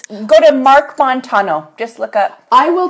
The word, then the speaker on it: Montano: It's like Montana, but Montano. Yes, there we go.